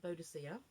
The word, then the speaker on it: Boadicea: This is when, well, there's two pronunciations, Boudica and Boadicea, okay?